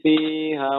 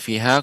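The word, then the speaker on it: فيها: Summa la yamutu fiha wa la yahya. Nah, sekarang pada kata fiha. Tadi bacanya fiha kurang panjang sedikit Bapak. Fiha. Jadi untuk memudahkan kita ketika kita mendapatkan ada huruf mat, caranya ditekan, Bapak.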